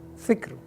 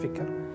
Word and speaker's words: fikr: Fikr, fikr. It's not fikr. Sometimes we are, used to it, and we use this way, fikr. But the better and correct way to pronounce it, fikr, with the sukoon.